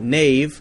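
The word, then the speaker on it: knave: spelling hasn't really changed we say k-n-a-v-e nave like nave n-a-v-e but still spell it in the most ridiculous possible way i have a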